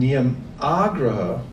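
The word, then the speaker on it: niyamāgraha: And niyamagraha with a long A means that you follow them but you don't know what you're doing.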